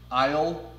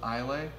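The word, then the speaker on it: Islay: rubbed off on you it's like Isle instead of instead of I'll a did I call it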